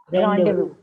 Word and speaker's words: rendezvous: Just according to the letters. Letter, but actual pronunciation is rendezvous.